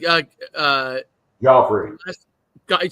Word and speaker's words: Guifre: I say uh uh gofy you say gofy as it looks okay goffy yeah I want it's pronounced like the uh the who is it the king in um Game of Thrones or the ballet in